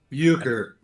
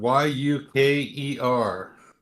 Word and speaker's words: euchre: Euchre. Yuker. I don't even know how to spell it.